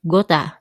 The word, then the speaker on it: got to: Number four, when speaking informally, we usually pronounce got to as gota.